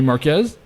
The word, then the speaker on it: Marquez: And today we have a guest, Marquez. Thank you. I love being here. Thank you for having me. I got it right. Marquez, right? Marquez, yep.